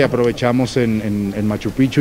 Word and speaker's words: Machu Picchu: bonita en Machu Picchu Machu Picchu nos enseñaron a decirlo así se pronuncia sí los expertos allá